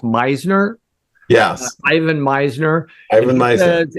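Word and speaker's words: Misner: I believe his last name is pronounced Meisner.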